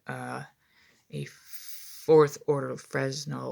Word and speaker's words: Fresnel: a fourth order of Fresno or phrenal lens as it's pronounced um and by this